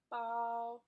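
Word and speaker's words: 包: So if you, for example, bao, B-A-O, bao, if you say bao with the first tone, long and flat, bao, and that means bag.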